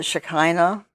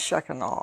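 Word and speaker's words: Shekinah: Shaka oh and yeah a lot of people pronounce it shakina pastor feni says that's not how you pronounce it so it's sheen on now what does that mean well well she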